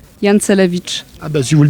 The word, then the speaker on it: Jancelewicz: Et, et votre nom, c'est vous qui allez le prononcer? Jancelewicz.